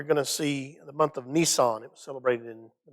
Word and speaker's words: Nisan: or the month of nisan uh no that's not nissan truck but it is spelled just like that um abib uh